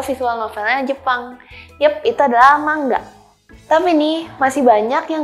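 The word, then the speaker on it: 漫画: novelnya Jepang itu adalah mangga Tapi ini masih banyak yang ngucapin itu manga Wah jangan tertipu karena penulisannya mangaia padahal dibacanya itu mangga loh tapi artinya bukan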